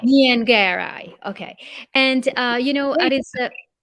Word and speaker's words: Nyengerai: Uh, Take it Nyengerai. in threes. Nyengerai. Nyengerai.